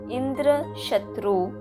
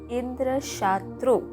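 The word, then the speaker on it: इन्द्रशत्रु: However, instead of pronouncing the intended word Indra Shatru, which means enemy of Indra, Twasta mistakenly said Indra Shatru, making the A long so that the meaning was changed to Indra, who is an enemy.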